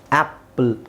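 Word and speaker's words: apple: ಹಾಕಿದಾಗ ಇದನ್ನು ಕೂಡಿಸಿ ನೋಡಿದ್ರೆ ಇದನ್ನ ಕೂಡಿಸಿರಿ ಈಗ ಇದನ್ನ ನೀವು ಕೂಡಿಸಿದರೆ ಏನು ಬರುತ್ತೆ ಆಪಲ್ ಕರೆಕ್ಟಾಗಿ ಇದೆ ಇದನ್ನ ಒತ್ತಿದ್ದು ಅಲ್ವಾ ಎ ಸೈಲೆಂಟ್ ಆಗಿರುತ್ತೆ ಇಲ್ಲಿ ಇದಾಯ್ತು ಓಕೆ ಎ ಸೈಲೆಂಟ್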